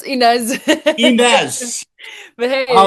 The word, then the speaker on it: Ines: And am I going to get your name wrong? Inez? Um yeah, it's Inez.